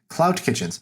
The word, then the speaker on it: Clout Kitchens: So this one, it's Clout spelled with a T at the end, Clout Kitchens, because it's going after influencers.